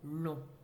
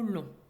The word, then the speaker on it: long: C'est le même cas pour le mot long, qui, au féminin, devient longue. On entend ici la lettre G.